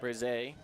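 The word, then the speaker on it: Berezay: That's Castle Brize. I believe that's how they say it, Brize. I think it's. I'm trying to hear how Roger's saying it on the PA out there. He's saying Brize.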